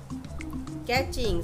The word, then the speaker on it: catching: कैचिंग, CATCHING, इसमें T silent है, कैचिंग means पकड़ना।